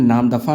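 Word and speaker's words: नामदफा: चलिए नाम दफ़ा है, वैसे इसका नाम दफ़ा अरुणाचल प्रदेश में है, ये थोड़ा सा प्रोनाउंसिएशन में नाम दफ़ा है, नाम धापा लिख गया, अरुणाचल प्रदेश में है, ठीक है।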